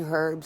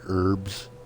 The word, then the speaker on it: herbs: a mix of 13 herbs and spices plus a dash of modern chemistry guys you know where people pronounce the H you know in herbs they call them herbs